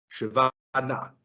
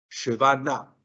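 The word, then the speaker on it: שווא נע: Vamos a comenzar con el primer grupo, el sheva llamado na. Sheva na. Sheva na. El sheva na significa sheva, miren lo que significa nada. Y na significa en movimiento o móvil, es decir, es el sheva que se pronuncia.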